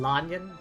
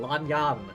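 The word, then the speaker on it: Lan Yan: Lion. Why does everyone say that? They say it like one word. Lion. It's Does no one know how to use spacing? Langan.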